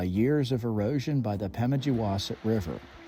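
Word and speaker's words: Pemigewasset: of this River that's not quite right it's pronounced Wingardium Leviosa just kidding it's pemijowasit locally called the pemi it originates at profile Lake and eventually forms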